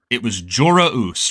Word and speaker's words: Joruus: It's also interesting because like the confirmation that we had got from Zahn was that the proper pronunciation of the W in it was Jorah Us, right?